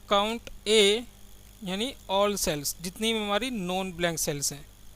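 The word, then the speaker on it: COUNTA: काउंट ए क्या करता है, काउंट ए या फिर काउंटा भी बोलते हैं इसको, बट काउंट ए सही प्रोनाउंसिएशन तो काउंट ए ही है, ठीक है। काउंट ए बोला जाता है।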